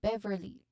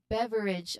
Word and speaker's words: beverage: Pronunciation wise, you stress on bev. Soft final H in the last sound. So Beverly. I'm sorry, not Beverly, but like beverage.